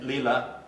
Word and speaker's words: Leela: This is Edmond and Leela. Pronounce it right? Leela?